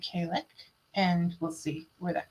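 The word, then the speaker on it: Cailleach: There is Irish, and there are many different ways to pronounce it. There isn't many different ways to pronounce it, but it doesn't look like it's pronounced. So even though I just went and looked up how to pronounce it, I'm going to say Kalek, and we'll see where that goes.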